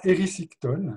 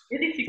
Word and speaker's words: Érysichthon: Alors, c'est le roi Érysichthon. Je pense que je prononce juste. Érysichthon.